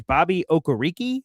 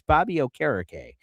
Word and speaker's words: Okereke: Uh I always thought it was Bobby Okereke, uh but I have been told it's Bobby Okereke as a name pronunciation guy.